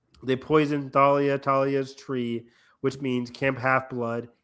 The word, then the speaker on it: Thalia: I say Talia. I will always say Talia. Even though the show says Thalia, I don't like it. It's always Talia to me.